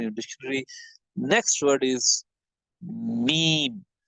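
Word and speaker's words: ميم: Next word is meme. Meme has to be pronounced from the wet part of the front two lips, right?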